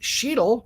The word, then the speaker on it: Sheetle: It's pronounced Sheetle, rhymes with needle.